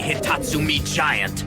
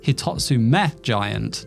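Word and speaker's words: Hitotsu-me Giant: See, the name should be pronounced Hitatsu meth giant, not Hitatsu mi giant. Hitatsu is a Japanese counter meaning one or a thing. And me is the Japanese word for I.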